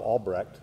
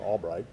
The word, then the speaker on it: Albrecht: In 1968, the church that Albright founded, that is Jacob Albright, or properly Jacob Albrecht, he probably never pronounced his name Albright, the church that he